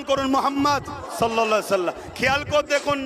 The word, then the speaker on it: মোহাম্মদ: আপনারা একবার উচ্চারণ করুন মোহাম্মদ সাল্লাল্লাহু খেয়াল করে দেখুন নবীর নাম নিলে দুই ঠোটে ঠোট ঠেকছে বলুন মোহাম্মদ আমার